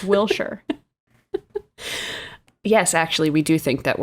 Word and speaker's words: Wilshire: But she did say, she said Americans say Shire, like Wilshire, but it should be Shur, Wilshire.